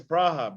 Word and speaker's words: Praha: when you go to Prague, it's Praha, but when you speak English, it's Prague.